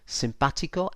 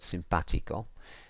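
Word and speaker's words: simpático: sound of the vowel, in Spanish it's all about emphasis and stress. So this is telling me, so if we look at the word simpatico, it's telling me that that A is the vowel that you stress or you say most strongly.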